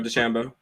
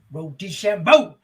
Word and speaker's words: DeChambeau: DeChambeau. Yeah, Bryson DeChambeau.